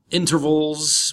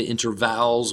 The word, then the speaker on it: intervals: dial ten digit digits intervals we don't say interval's we say intervals like a V you LS intervals in ER but just like the Internet the T disappears in American English inner intervals gaps are